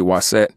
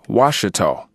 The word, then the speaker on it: Waset: that the Kikuma letters, the consonantal spelling WST, as many of us know to be Waset, they say that the proper pronunciation of that is Washita. And therefore, the so-called Washita nation were Egyptians and Nubians and Ethiopians and whatnot. And this is a deliberate falsehood that has stunted our